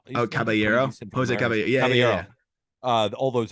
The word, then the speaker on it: Caballero: Caballero.